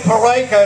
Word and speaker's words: Peraica: I didn't think so my name is parka it rhymes with America can you remember that